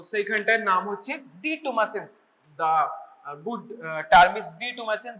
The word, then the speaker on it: detumescence: The pronunciation is ডিটুমাসেন্স এন্ড ইট is basically the relaxation.